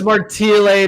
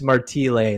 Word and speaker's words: Martile: I said Martile. Oh, it's Martile, but you know what? It's because my dad's Italian and then he immigrated to Canada. It's Martile.